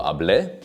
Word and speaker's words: hablé: Yo lo hablé, accent on the e.